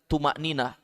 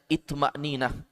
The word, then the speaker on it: itma'ninah: Watma'ninah, adapun arti itma'ninah biziyadati hamzatin fi awwalihi, dengan penambahan hamzah. Biasanya kita biasa mendengar tuma'ninah, ya kan? Tuma'ninah, tapi ini ada kalimat hamzah di awal, itma'ninah. Bacanya itma'ninah.